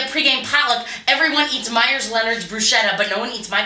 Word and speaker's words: bruschetta: And then Wesley Matthews is like, guys, I think it's pronounced bruschetta, not bruschetta. What do you think? LaMarcus Aldridge. LaMarcus Aldridge is like, God damn it, I have to do everything for this team. I score all the points. I gotta tell you how to pronounce bruschetta, and it is pronounced bruschetta, and I know that because I'm minoring in Italian.